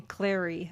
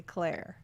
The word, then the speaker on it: Claire: I always hate it when people call me Clary. I'm like, Clary. Really? It's obviously Claire. Lily Castle says, I vote for Claire Bears and Cracker Lickers.